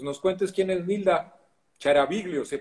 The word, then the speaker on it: Chiaraviglio: cuentes quién es Nilda Charaviglio, ¿se pronuncia así? Sí, es de origen italiano, se puede pronunciar Chiaraviglio, pero da Ah, ok.